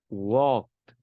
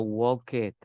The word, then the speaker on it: walked: Walked. No walk it. Walk.